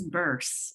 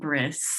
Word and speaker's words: Burse: And my last name is Burse, not Briss.